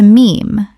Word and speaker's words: meme: He took the Greek word mimeme, meaning something imitated, and shortened it to meme, to rhyme with gene.